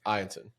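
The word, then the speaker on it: Eyanson: We've said it wrong all fucking year. Ianson.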